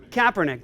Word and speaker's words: Kaepernick: Colin Kaepernick Kaepernick how do you say this Kaepernick there you go see it shows you how